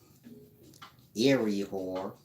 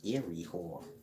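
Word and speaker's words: Iry-Hor: can do a video later explaining the proper pronunciation of ancient Egyptian names but Eerie whore i r y Dash h o r if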